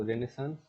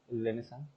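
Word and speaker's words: Renaissance: अब रेनेसां rebirth क्यों जरूरी था? फैक्टर क्यों, वो रेनेसांस, रेनेसा सॉरी, ये साइलेंट है कितने एरिया, ये साइलेंट रहता है।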